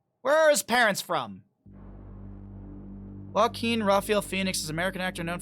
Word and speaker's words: Joaquin: how do you say his name uh uh pronunciation oh no Joaquin is right Joaquin Phoenix Joaquin Phoenix where is